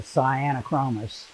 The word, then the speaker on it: Sciaenochromis: on spelling bees uh the that ae together is a latin uh vowel which is pronounced long i uh so the cyanochromis uh and i'm not